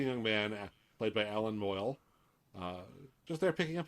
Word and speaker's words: Moyle: right plus looking young man played by alan moyle uh just there picking up his mail what's his what's his name ellen moyle is the name of the actor yeah moyle